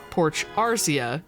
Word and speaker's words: Porch Arcia: And once again, she gets upset that no one in Apple Town seems to be able to pronounce her name correctly, as it's Porch Arcia, not Elusia.